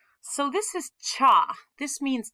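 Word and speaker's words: 茶: these two are not connected okay this is pronounced cha we usually have the honorific ocha because it's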